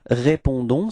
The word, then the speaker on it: répondons: So as usual, final S is not pronounced, okay? So the only thing that is pronounced at the end, it's this O-N, and it's on, okay?